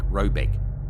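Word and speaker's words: Råbäck: guard in question is to be called rayback pronounced something like robec though it is not its name it is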